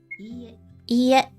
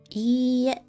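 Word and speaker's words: いいえ: When dealing with repeated vowels, such as I, you draw out the length of the sound. I. It's not quite the same as repeating the vowel twice.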